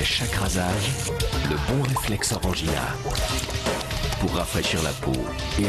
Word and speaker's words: Orangina: All right, and at number 2 today, an Orangina ad that is blowing up the internet. Oh, that's how you pronounce it.